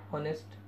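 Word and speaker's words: honest: इसी तरह है ऑनेस्ट, एच साइलेंट है, ओ की आवाज़ निकलती है, एन लगता है।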